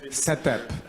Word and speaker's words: CETE-P: native English speakers we it was decided that it should be pronounced as setup those who of you